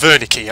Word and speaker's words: Wernicke: So it's pronounced Wernicke. Okay, I've been pronouncing it wrong. It's Wernicke.